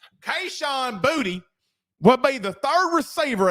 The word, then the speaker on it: Boutte: By the way, we found out today it's not Kayshon Boutte, it's Kayshon Boutte. That's how he says it's pronounced.